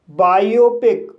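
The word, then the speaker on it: biopic: कुछ वर्ड्स में आई ओ का उच्चारण आई ओ होता है। फॉर एग्जाम्पल बायोपिक, इस वर्ड में बी को बा पढ़ा जाएगा,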